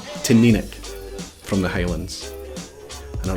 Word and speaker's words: Teaninich: Teaninich. Teaninich. The accent is over the middle syllable, the NI, pronounced ni, so Teaninich from the Highlands.